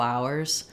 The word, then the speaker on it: hour: we're going for several hours I'm not going to say we're going for several hours this one doesn't get reduced it always stays hour uh this one becomes